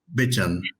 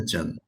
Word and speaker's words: Bejan: I'm pronouncing Bejan Matur. It's more like Bejan. Exactly. Bejan. You are okay. Bejan. Bejan. Yes. Thank you. It's a Kurdish name.